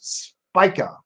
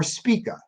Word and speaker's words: Spica: star of the springtime called Spica or speaka depending on your on how you want to pronounce it speaker means ear of